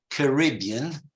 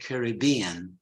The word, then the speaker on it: Caribbean: two different pronunciation uh the Brits pronounced in in British English generally it is Caribbean While most Americans say Caribbean right Tara you say